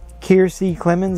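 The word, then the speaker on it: Kiersey Clemons: i said barry allen in the flash um keirsey clemens is how you pronounce the name is iris west and i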